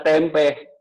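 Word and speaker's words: tempeh: Demikian halnya kalau di luar negeri tidak ditulis tempe tanpa H, ditambahin H. Supaya orang bisa baca tempe. Kalau dia tanpa H di belakangnya bacanya tem.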